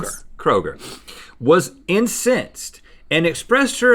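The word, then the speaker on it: Chad Kroeger: Chad Kroger. Yes. Kroger, was incensed and expressed her emotions on Twitter.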